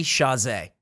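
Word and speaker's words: Chasez: want to hear it it is jc chazay chazy that's that's what that's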